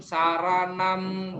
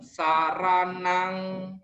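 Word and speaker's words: saraṇaṃ: masih banyak yang salah biasanya dibaca buddham saranam gacchami dhammam saranam gacchami padahal membacanya gudang saranang gacchami cemang saran nang kecam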